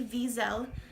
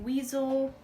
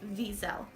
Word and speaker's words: Wiesel: correct it is le visa because a lot of people have mispronounced that and called it weasel or and that's not correct it's actually visa with a V because we learned the